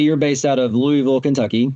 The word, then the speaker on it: Louisville: Although for all those who are native Kentuckians, I'll have to say it's Louisville.